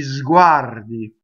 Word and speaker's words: sguardi: So di sguardi, right? Sguardi. Z, right? That's your first sound you make in that word. Sguardi. R rolls because it touches the D.